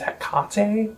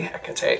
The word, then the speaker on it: Hecate: Now, I have heard this band be pronounced as Hecate Enthroned. I say Hecate, though.